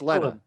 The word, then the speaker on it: Lena: Oh, it's Lena. Yeah. Lena, like Helena.